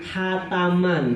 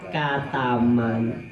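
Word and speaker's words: khataman: Makanya dulu kalau sudah bilang hataman, jadi apa? Kataman. Beda makna kalau sudah kataman.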